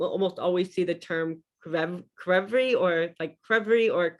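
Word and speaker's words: ქვევრი: In Georgia, you pronounce every consonant. So even when they're next to each other, I mean, I think the only example like CH is still pronounced like a cha, but you really pronounce each letter.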